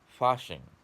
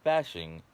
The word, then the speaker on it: Fasching: pronounce this properly again, Fasching. Not fashing, Fasching, which is a German holiday where the townspeople would get together.